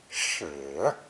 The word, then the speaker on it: 矢: Pronounced third tone, shi, shi.